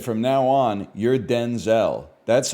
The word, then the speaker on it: Denzel: So she said from now on you're Denzel. That's how we got to pronounce Denzel. Washington clarified that his first name was originally pronounced Denzil as opposed to the Denzel he uses now.